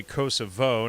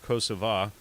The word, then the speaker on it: Kosovo: doing in Kosovo and I say Kosovo now not you know I do not honor the Albanian pronunciation of kosova but uh it's you